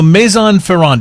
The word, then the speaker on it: Maison Ferrand: Maison Ferraro sorry not sorry yes yeah so Maison Ferran did I say it correctly yes I'm Ferran